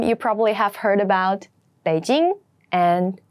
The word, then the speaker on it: Beijing: list among them you probably have heard about Beijing and Shanghai Beijing be Jing Beijing Beijing is the capital of China it's